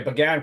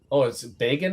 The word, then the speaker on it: Bagan: And it's Bagan and not Began. Every person I've ever known spelled B-A-G-A-N is pronounced Began. Is that just a UK thing for Bagan?